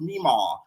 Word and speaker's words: Mima: Y'all told me her name was pronounced Mima. Like the girl, the grandma off of Hannah Montana.